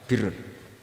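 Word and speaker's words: بر: Ya kalau di isim fa'ilnya umumnya guru-guru kita baca barin, tapi untuk masdarnya untuk kebaikan bacanya apa? Birun. Nanti kamu protes, oh barun itu daratan Gus, kalau birun itu kebaikan. Aku itu macaku kamus luwes suwi, bocah kok sembrono.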